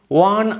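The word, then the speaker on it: one: কেন এ হচ্ছে, দেখো ওয়া যখন উচ্চারণ করছি অ্যাকচুয়ালি উচ্চারণটা কি হচ্ছে WOA, ওয়ার মতো। এটা কি দিয়ে শুরু হচ্ছে W, ইটস নট এ ভয়েল, এটা ভয়েল নয়।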